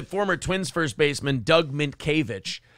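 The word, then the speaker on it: Mientkiewicz: twins first baseman Doug minkiewicz what you're trying to pronounce you're like Min kuwitz it's like okay I can see where you'd get that that's how the letters are arranged Brendan's adding letters in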